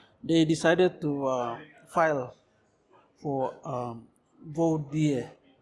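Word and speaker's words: voir dire: So my lawyers in the first place, they decided to file for VODIE. VODIE is spelled VOIR and DIER or something. That's I think Latin, I think.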